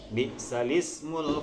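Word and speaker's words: بِئْسَ الِاسْمُ: Bi'sal ismu, kita bacanya seperti itu, tidak bi'sal ismu, tapi bi'sal ismul fusuq. Jadi harokatnya tersebut adalah dipindah kepada lam, harokat hamzah, ya, al-ismu,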